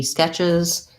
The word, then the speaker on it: sketch: And so for both of them, we have the red tent vowel, sket, and then this TCH, sketch, is basically just a CH sound.